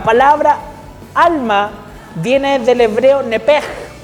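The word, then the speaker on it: נפש: La palabra alma viene del hebreo nepej, que en realidad se escribe con CH, nepech, pero la CH en hebreo se pronuncia como J.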